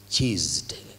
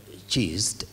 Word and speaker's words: chesed: It's a Hebrew word which is chesed, like, you know, I can only pronounce it like in English, but it's C-H-E-S-E-D, like chest or cheesed, you know, but it's not cheese because it's not double S.